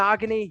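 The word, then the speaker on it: Igbinoghene: had C D Lam CJ Henderson Noah Eggman agony yes it's how you pronounce it and Michael Pittman jr.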